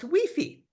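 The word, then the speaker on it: wifi: Yes, this is pronounced weefy. Okay, because remember the sound of the E is always E.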